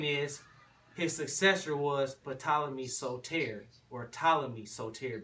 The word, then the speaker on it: Ptolemy: his successor was but ptolemy's soleter or ptolemy soteri because the p is silent so terry means savior